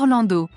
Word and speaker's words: Orlandeau: you say that Frenchman oh oh it is pronounced orl Orlando it's Orlando in mine Orlando Orlando Orlando Orlando orando Orlando